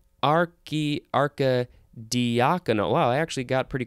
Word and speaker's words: archidiaconal: So maybe it is archidiaconal. Anyway, let's see. Oh no, it is archy, because that's what the pronunciation guide says.